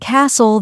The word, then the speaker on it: castle: For example, in words like no, the K is silent, honest, the H is silent, and castle, the T is silent.